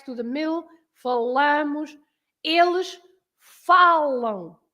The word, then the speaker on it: falam: stress to the middle, falamos, eles falam. You have to stress falam.